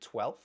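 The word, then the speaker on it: twelfth: Or 12th, we're dropping the v again, 12th.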